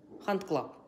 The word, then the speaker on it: Hunt Club: Скажу вам о том, что в моем сегодняшнем задании стоят работа с гель-лаками из коллекции Hunt Club. Да, вот так читается правильно.